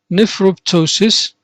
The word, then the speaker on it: nephroptosis: Now, the first term we have nephroptosis.